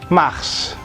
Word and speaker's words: mars: Kemudian bulan Maret itu, nah ini unik nih, biasanya akhiran s itu tidak dibaca tapi ini dibaca. Jadi bacanya Mars, seperti halnya planet Mars gitu.